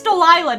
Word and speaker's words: Delilah: hiding behind delight delilah dude i think i've been saying her name wrong the whole time it's delilah now okay get used to it what is it